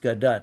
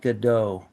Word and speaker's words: Gadot: And by the way, her name is pronounced Gadot, not Godot, like some people like to say.